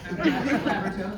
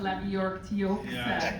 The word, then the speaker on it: Labyorteaux: Yeah, Labyorteaux, Labyorteaux, is how you say it.